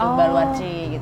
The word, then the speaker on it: Baluarte: Jadi dari kata Portugis gitu, Baluarci gitu. Baluarci. Iya, Baluarci. Tulisannya sih Baluarte ya. Oh, tapi bacanya Baluarci.